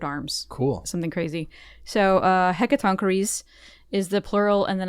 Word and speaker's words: Hecatoncheires: How do you think it's pronounced? Hecatoncheires? Close. Hecatoncheires. How did you get that? I looked on the internet. It's an ancient Greek Checks out.